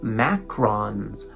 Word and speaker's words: macron: Macrons, macrons. I don't know how to say it. Macrons. That's how we say it in English.